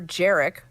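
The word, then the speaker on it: Jerec: video of Deputy Minister jerck which rhymes with merik saying that the current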